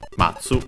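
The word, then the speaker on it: 待つ: Yes, accented matsu to wait also to a way to look forward to to anticipate uh but the fundamental meaning is to wait.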